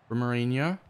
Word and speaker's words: Romarinho: Romarinho. I finally started pronouncing his name right as well.